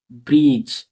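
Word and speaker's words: bridge: এরকমভাবে বি আর I easy ব্রিজ ব্রিজ ডি এখানে silence পুরোপুরভাবে D silence এরকমভাবে একই রকমভাবে এই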